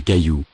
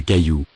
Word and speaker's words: cailloux: Des cailloux. Des cailloux. For plural, add the ending, X. but not pronounce it. Des cailloux.